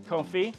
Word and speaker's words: confit: Confit pulled pork, am I saying that right? Sure. I'm not, you're gonna, could you just tell me so I don't say it wrong in the future? Confit.